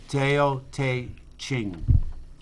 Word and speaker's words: Tao Te Ching: Tao Te Ching.